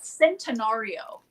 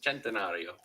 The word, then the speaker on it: Centenario: By the way, Rainy, it's Centenario. Same thing. Say it in Italian, say it in American. Centenario.